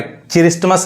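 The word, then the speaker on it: Christmas: देखिए यहाँ पे, अब यहाँ पे क्रिसमस नहीं, क्या पढ़ेंगे, क्रिसमस। अब यहाँ जो टी साइलेंट है, आने वाले वीडियो में हम साइलेंट वर्ड भी सीखने वाले हैं।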